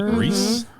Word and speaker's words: Rhys: Yes, Joe the coach, played by Jonathan Rhys Rhys? Meyer. Is it Reese? It's spelled You- RHYS. Okay, then it's probably Reese.